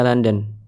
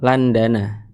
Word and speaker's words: London: Kalau London udah bilang aja London tidak perlu Landana.